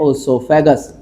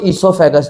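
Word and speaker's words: oesophagus: लिखना है ओसोफेगस। ओसोफेगस, समझ रहे हो इस बात को? तो हमने बोला कुछ लिखा कुछ, लिख ओ साइलेंट होता है बेटा। तो ईसोफेगस जो है हमारा, वहां से खाना जाता है फूड पाइप से।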